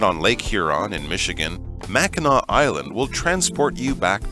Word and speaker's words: Mackinac: in this area so let's learn more about Mackinac Island notice that interesting pronunciation the Jewel of the Great Lakes as